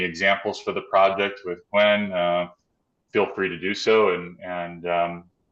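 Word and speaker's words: Qwen: Okay, I pronounce it Quen.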